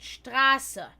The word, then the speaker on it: Straße: denn mir wurde beigebracht, dass, wenn es ein scharfes S hat, dass der Buchstabe davor, was normalerweise dann ein Umlaut ist, lang ausgesprochen wird. Straße.